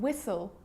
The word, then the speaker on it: whistle: like in the examples what when why and whistle and sometimes it's not pronounced at the start of a word like